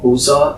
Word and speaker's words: Busza: She was born in a small town called Buza. It's spelled Busza. SZA.